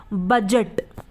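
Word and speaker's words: budget: उसी तरीके से बजट बी यू दी जी ए टी बजट अब यहां पर भी दी के बाद क्या ए रहा है जी ए रहा है इसलिए यहां पर दी क्या है साइलेंट है यानी की है तो लेकिन वो बोला नहीं जा रहा हम क्या बोलते हैं बजट या जैसे एज अब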